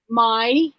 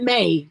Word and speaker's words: Mai: Mai and Karen. What? Mai? Or is it May? Does she say it May or does she say it Mai?